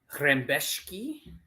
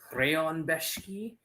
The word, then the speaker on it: Rębecki: Moving on, lightweight division, Mateusz Rębecki, or like Rębecki, because Polish people are weird and they pronounce things weird.